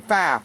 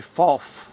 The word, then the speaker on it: Pfaff: this premiere and saying why isn't he saying faff why isn't he saying faff well it's because I genuinely believe that this